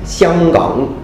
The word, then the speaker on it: 香港: So for example, in Mandarin, the city of Hong Kong is pronounced Xianggang, Xianggang, the city of, you